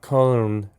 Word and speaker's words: Cologne: It's a lager style beer from Cologne, Germany. From Cologne, yeah, or Cologne as the Americans say it.